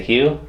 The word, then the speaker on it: Hugh: She's just giving out relationship advice to Hugh because his name rhymes with poo.